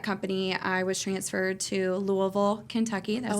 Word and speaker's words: Louisville: And then my with that company, I was transferred to Louisville, Kentucky. That's how you say it. Louisville.